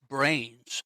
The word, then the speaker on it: branes: of contemporary physics is brains. And I have to spell it because it's not the thing in our skull, it's BRANES, as in membranes.